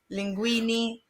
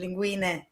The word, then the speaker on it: linguine: amarona is perfect that's one of the biggest mistakes that people do when pronouncing Italian names Giuseppe Linguini well in reality it's Giuseppe and linguine yeah what did I